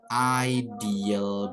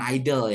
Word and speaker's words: ideal: dan yang terakhir ada ideal body bukan idle ya tapi ideal body itu berbadan ideal that's